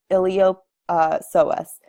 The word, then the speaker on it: iliopsoas: So starting off with our iliopsoas, the P is silent here.